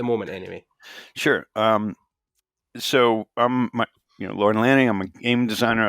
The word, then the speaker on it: Lorne: I'm like, it's Lorne. Just one syllable. Keep it simple.